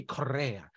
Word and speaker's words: Correa: And he's like, it needs to be Correa because you got to get the R in there because he wants to be Italian or something like that.